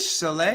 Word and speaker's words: Soleil: I think French, Soleil? Yeah, French. I'm going, wait, is this a trick question here? Hannah Soleil Sandler. That's Solei.